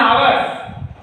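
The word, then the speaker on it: hour: एक उदाहरण और देख लीजिए, she has been reading a book for अब इसको आपका नाम है आवर्स, ये एच साइलेंट रहता है तो ओ काउंट होगा, तो यहां होगा एन आवर, क्या हो जाएगा एन आवर।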